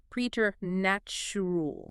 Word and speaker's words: preternatural: You see p r e t and you instantly think it starts like president or present, but it uses a long e e sound. Mhm. Preeter natrool.